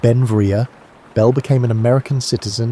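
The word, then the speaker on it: Beinn Bhreagh: Pronounced Ben Vria, Bell became an American citizen in 1882, but his name meaning beautiful mountain in Scottish Gaelic, showed his Scottish heritage.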